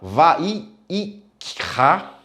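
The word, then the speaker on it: ויקרא: No original, na Bíblia hebraica, vai se pronunciar esse nome, né? Esse livro vai falar Vai-i-Ikra. É um pouquinho complicado de pronunciar isso, que traduzindo de uma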